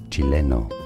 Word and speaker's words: Chileno: Chileno.